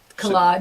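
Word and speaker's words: Kaleide: The Collide, I didn't know how to pronounce that. Collide, yeah. K-A-L-E-I-D-E, so I avoided it.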